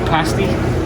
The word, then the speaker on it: pasty: It's pronounced pasty.